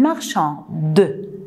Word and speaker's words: marchande: Le E à la fin, c'est une lettre muette. Je ne dois pas prononcer, mais je l'écris. Je ne dis pas une marchande, je dis une marchande. Alors, je prononce le D seulement.